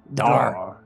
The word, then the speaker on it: Dar: Dar. Yeah, Dar is very simple. It's one syllable.